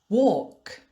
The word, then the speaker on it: walk: sometimes the letter l is silent like in these words palm palm walk walk but i'm sorry there aren't